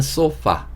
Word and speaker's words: sofa: 보도록 하겠습니다 자 이번에는 소파 소파라고 하시면 되고 FA 발음은 파 보다는 쌍시옷 발음으로 소파라고 해주시는게 좋습니다 이게 우리가 얘기하는 소파고요